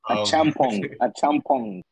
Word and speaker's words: Etchimpong: Did I say it right? Etchimpong? Beautiful. The one who was saying that it felt like a fit. Brenda. That actually wasn't bad. The pronunciation was good. Okay. I've done worse, likely so. Etchimpong. Yes, that was that. Yeah, that's the way to say it.